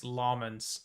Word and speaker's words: Lammens: I think um I've just put out his uh pronunciation by the way. It's Lmens like L a hs.